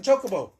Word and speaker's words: Chocobo: How else is it pronounced? Chocobo. That's how I normally say it. Chocobo.